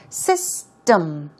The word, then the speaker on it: system: what about system uh I do find a lot of people saying system she or system okay it's more of um sound system system um um sound it's not M it's um so let's try this system one more time system stress goes right there okay keep in mind